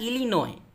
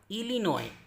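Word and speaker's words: Illinois: इस तरह इलिनॉय, इलिनॉय, ये भी अमरीकी सूबा है, लास्ट में एस है, नहीं पढ़ रहे हैं।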